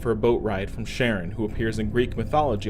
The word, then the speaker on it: Charon: Now about the pronunciation, Charon isn't likely the Greek pronunciation, but I'm going off how astronomers pronounce Charon when talking about the moon of Pluto with the same name.